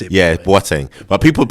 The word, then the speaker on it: Boateng: Yeah, Boateng. But people say Boateng is fine. But it's actually, you know, Ghanaian, West African, Boateng.